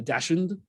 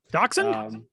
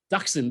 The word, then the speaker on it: Dachshund: A dashund. Dachshund. Dachshund.